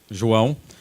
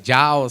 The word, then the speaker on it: João: comentei ontem, o americano não consegue fazer a pronúncia João, então eu tive que fazer essa adaptação para John. Estou vendo que ela está rindo ali, mas não sai mesmo, viu? Sai tudo, sai Jao, sai João, mas João é o que mais sai.